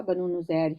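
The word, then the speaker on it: بنو نضیر: نذیر بھی کہتے ہیں، صحیح تلفظ اس کا بنو نذیر ہی ہے۔ تو یہ 3 قبیلے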